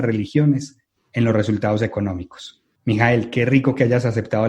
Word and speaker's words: Michael: Para eso, hoy nos acompaña, ¿cómo lo debo pronunciar? Mijael. Mijael, sí señor.